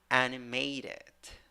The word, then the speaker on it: animated: Number 5, 8 letters, 8 sounds, 4 syllables. The first syllable is the stressed syllable, but also the third syllable has secondary stress. All right, primary stressed first syllable, secondary stressed in the third syllable. So first syllable, a, that is the pronunciation. Second syllable, schwa, third syllable, a wearing a hat, that is a. Fourth syllable, schwa, pronunciation, animated, animated.